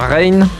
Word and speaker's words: Rein: Alors d'abord, est-ce que j'ai bien prononcé votre nom? C'est bien Rain? Oui, c'est bien Rain, c'est ça.